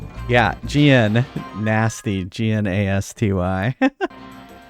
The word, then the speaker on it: Gnasty: don't this is a nasty's castle and it's spelled with a G see nasty swirl g-n-a-s-t-y every time you're chasing